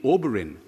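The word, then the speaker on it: Obirin: think of that name oberin the three syllables o burin o stands for cherry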